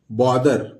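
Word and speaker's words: bother: दोस्तों कैसे पढ़ेंगे डोंट बॉदर तो ये ब लिख लेंगे और ये ओ तो ब हो गया और दर टी ए से थ होता है लेकिन यहां मानेंगे द ये साइलेंट है और ये र डोंट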